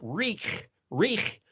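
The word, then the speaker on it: ריח: And if you look in the dictionary, Resh Yod Het is pronounced Rich, because Resh Vav Het is Ruach. So Rich, well, that sounds like the English word, something reeks, something stinks, something, there's an odor, reek.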